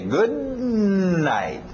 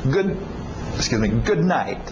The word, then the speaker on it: good night: O D e o N não vão bater muito bem, vão chocar. Então engole esse D. Good night. E o T no final também. Good night.